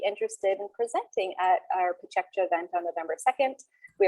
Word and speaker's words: PechaKucha: Some people call it Pechakucha, but it's pronounced Pachekcha, which means chit chat in Japanese.